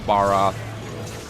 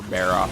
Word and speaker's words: Barroth: for the she drank Barra or Berra however you want to pronounce it some people pronounce it as bar and some people pronounce it as bear and like say Baron